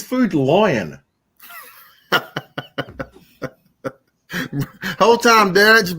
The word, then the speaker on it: Food Lion: it ain't that bad there's a word no one in the south pronounces properly food lion food lane yeah food food lion yeah it sounds like you're saying food line like you're standing in a line to get food all right i got